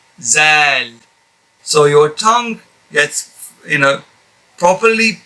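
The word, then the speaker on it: ذ: This one here is Zal. Zal. And apparently a lot of brothers pronounce this letter here as za as well, which is again inappropriate due to the fact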